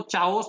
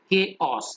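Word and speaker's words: chaos: इन द केओस and confusion, केओस, इसको चाओस नहीं पढ़ेंगे, क्या पढ़ेंगे? केओस।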